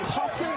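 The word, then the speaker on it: Hausen: with the rebound and we're told today too Hassan is the preferred pronunciation for Brendan Hassan he's a freshman sometimes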